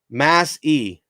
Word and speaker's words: Massey: think i figured out how to pronounce my last name mass e okay i think i figured out massey right mass e got it got it